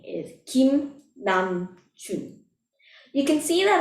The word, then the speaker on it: Kim: We can pronounce RM's name by spelling out the consonant and vowels. It begins with k, i, m.